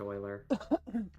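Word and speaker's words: Euler: It's technically it's supposed to be pronounced oiler.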